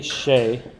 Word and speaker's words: Shueh: Her name is Tammy Shea, right? But it's spelled Shueh. Yeah. And he's like, I went with shoe. Shoe. Shoe. He saw the U Tammy Shue. and automatically became Shoe.